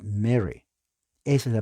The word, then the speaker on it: Mary: Mary y no es Mari Mari es pronunciación española la la e es la a es e y la r es r Ah pronuncia Mary Esa es la pronunciación